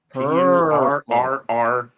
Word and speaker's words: Purrrelor: guess because it's supposed to be like per, so he has 3 R's.